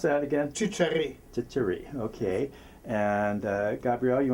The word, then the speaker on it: Csiscery: s i CS e r y and spell pronounce that again T Cher okay and uh Gabrielle you want to spell